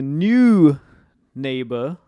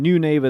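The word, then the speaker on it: Neunaber: remind you so this pedal is called the new neighbor Immerse Reverberator. So new neighbor, howdy neighbor, I'm your new neighbor. Um Immerse Reverberator, the Mach 2. All right. Um, and new neighbor, that's spelled as ne u n a b e r.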